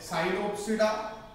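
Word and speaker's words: Psilopsida: और इसका एक क्लास है साइलोप्सिडा। ध्यान रखिएगा पी साइलेंट है, टेरिडोफाइटा में भी पी साइलेंट है, साइलोप्सिडा में भी पी साइलेंट है।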